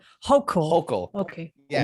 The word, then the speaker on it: Hochul: Her name is pronounced Hochul. Hochul.